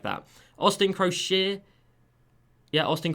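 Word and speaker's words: Croshere: Austin Crochet. Yeah, Austin Crochet, that is how you pronounce his name.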